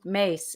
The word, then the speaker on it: Myss: good she's greek uh so mace is prone is spelled myss and at one point